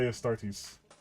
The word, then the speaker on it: Astartes: I know it's a start, but I want to say Astartes. Because that's how it's spelled.